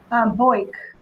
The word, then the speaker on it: Boyk: Boyk. Boyk. Boyk with the K on the end.